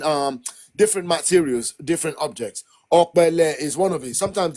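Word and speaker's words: Opele: Ole.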